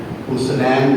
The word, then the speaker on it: حسنین: کا پتہ نہیں ہوتا، وہ آتے ہیں حسنین. حسنین نہیں، پیش نہیں، زبر ہے، اور سین تے بھی جزم نہیں، زبر ہے. حسنین.